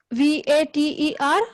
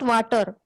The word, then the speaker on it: Vater: Now, how did I pronounce V-A-T-E-R? I pronounced it as Vater. Vater, not water.